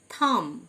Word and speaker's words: thumb: থাম, THUMB, be silent.